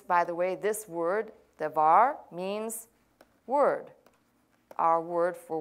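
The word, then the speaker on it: דבר: probably in another lesson should be pronounced devar I may say debar in fact on my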